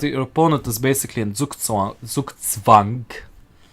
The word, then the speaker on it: Zugzwang: So when you notice that your opponent is basically in Zugzwang, correct pronunciation for the Germans out there.